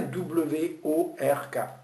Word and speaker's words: work: Ça s'écrit bien W-O-R-K. Mais vous entendez, et je vous suggère de l'écrire. Moi j'entends work, W-E-U-U-K.